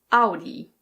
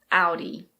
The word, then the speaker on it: Audi: Now this is a German brand and in German it's pronounced Audi. Audi. But in English we say Audi. Audi.